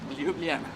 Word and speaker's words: Ljubljana: Try making the J's into Y's in sound terms, and that's how it goes. So it's Ljubljana. Ljubljana. That's how it works.